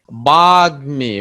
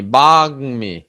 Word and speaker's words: বাগ্মী: গর সঙ্গে যুক্ত হইলে কিংবা অর সঙ্গে যুক্ত হইলে কিংবা মূর্ধন্য ন, দন্তন্য ম, ল, এই কয়টা ধ্বনির সঙ্গে যখন ম ফলা যুক্ত হবে, তখন ম ফলার উচ্চারণ স্বাভাবিক থাকবে।